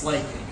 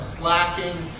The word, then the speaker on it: slaking: Some people use the term slacking. I've never come across any reference that that's the correct pronunciation. So slaking, much like slaking your thirst.